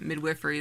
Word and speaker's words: midwifery: saying like um how hilarious it is that Midwifery is pronounced that way but yeah that's how you say it um Midwifery in Canada is very different because you can